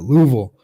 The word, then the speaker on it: Louisville: okay you got to say it like that Louisville they emailed and responded Justin he reached out